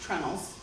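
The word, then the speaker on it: treenails: You can have just simple holes drilled in, and you use what are called, spelled out tree nails, but it's pronounced trunnels.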